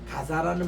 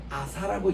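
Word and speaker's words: Gaza: 가자라는 말은 아랍 사람들이 하는 발음이 가자입니다. 유대인들은요 이거를 가사라고 얘기하지 않고요 이제 아사라고 얘기합니다. 유대인들은 이거 카인이라는 이 말을 발음, 이게 발음이 없어요. 아랍인들은 자라고 해서 가자라고 이렇게 발음하는데 유대인들은 아사라고 발음합니다.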